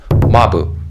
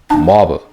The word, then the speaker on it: Mabu: those who are new my name is mabu not mob okay please don't mispronounce